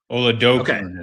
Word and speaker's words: Oladokun: Oladokun is how we say it. Oladokun. My apologies to the Oladokun family. I just went. They said like Oladokun. That's what I'm seeing on the pronunciation thing. Yeah. Oladokun. Coon rhymes with soon.